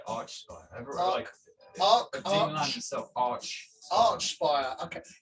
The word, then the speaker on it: Archspire: I say Archspire. Dean Land himself, Archspire. Okay. Yeah, I guess because it's a spire on top of an arch, isn't it? I'm pronouncing it as in like Arch Nemesis.